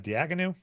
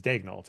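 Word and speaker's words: Daigneault: Uh Diagon. Yeah, I think that's right. Oh, it's it's uh Dagnalt is how reference says Dagnalt is how you say it. Well, it has a hard tea at the end.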